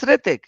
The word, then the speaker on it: Ritik: Oh, just Ritik. You don't even pronounce R. H is silent.